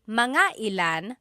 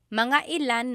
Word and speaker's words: mga ilan: Okay, so again, that glottal stop is important for proper pronunciation because they mean different things otherwise. And lastly, mga ilan means about how many.